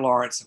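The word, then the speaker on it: Laurents: Well, the last name is spelled L-A-U-R-E-N-T-S, Arthur Lawrence.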